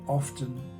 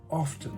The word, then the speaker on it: often: correct first of all if you check Cambridge Dictionary the Oxford dictionary and the American Merriam-Webster Dictionary they all will give both pronunciations so I don't think you can say that often is incorrect but I